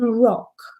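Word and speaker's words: Rocque: It's by John Rock, which is spelled ROQUES, I think, and I found it online.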